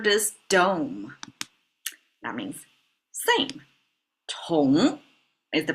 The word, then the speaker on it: 同: Tóng is the pronunciation.